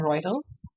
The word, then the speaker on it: Reuters: This is particularly troubling given that Reuters, ठीक है, इसका pronunciation है Reuters, recently reported that Mr.